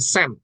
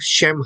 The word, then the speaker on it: Shem: Ya, jadi Shem itu, kita tahu Shem itu adalah nama. Ya, Shem, bukan Sem. Shem. Ini saya juga salah untuk memperbaikinya. Harus saya perbaiki. Shem. Ya, bacanya bukan Sem, tapi Shem.